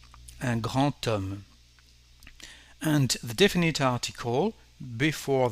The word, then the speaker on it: homme: To translate a man, we will say un homme with a connection between the two words. And in this case, the plugged H is actually like nothing. It's just a rest from the Latin or the Greek languages.